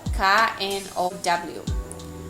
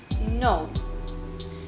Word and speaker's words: know: Irane hakerek KNOW. Mai be bahira ita le hanesane simple. No. Laos kno. O Laos kno. Irane salah.